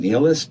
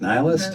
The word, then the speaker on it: nihilist: Nilist. Nihilist. How do you say it? I think nihilist. I could be wrong. Nihilist. Like the river Nile.